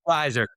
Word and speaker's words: RISR: R R I S R Riser.